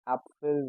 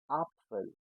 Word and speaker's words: Apfel: We always pronounce it as A. For example, apple. Apple is called Apfel in German language. So we are not saying Apfel, we are saying Apfel.